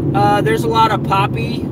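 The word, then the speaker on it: Papé: there's a lot of poppy or pape I think you pronounce it Pape uh there is a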